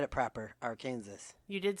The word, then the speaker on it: Arkansas: Arkansas. You did say it properly. Yes, that is the Christian pronunciation.